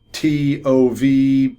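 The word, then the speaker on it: טוב: These are Hebrew words, T-O-V, roughly pronounced tov.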